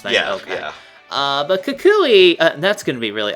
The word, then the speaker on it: Kukui: What do you think of Kukui here, who I actually had to watch a